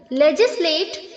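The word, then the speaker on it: legislate: लीगलाइज लेजिसलेट लेजिसलेटेड लेजिसलेटेड यहां पर जो बच्चों एल ई के आगे जी है उसे हमें जे की तरह प्रोनाउंस करना है जे ओके कहीं आप इसे एल ई जी की तरह प्रोनाउंस करें लेगले लेजिसलेट नहीं बोलना है बच्चों लेजिसलेट लेजिसलेट ओके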